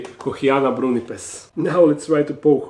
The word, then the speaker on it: Kochiana brunnipes: something like that but correct Latin pronunciation would be Kiana brunz now let's try to